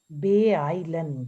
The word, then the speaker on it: beeilen: verb, the first one, Beeilen. beeilen, genau, sich beeilen. Yeah. First of all, we will pronounce this be, then ei will be pronounced separately. Beeilen.